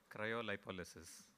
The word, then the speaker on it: Cryolipolysis: There is actually a far cleaner pronunciation which I'm going to have the gentleman tell you. Cryolipolysis.